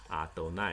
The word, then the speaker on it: Adonai: 这是在读经里面，当你遇到耶和华的时候要读成 Adonai 主，而在日常生活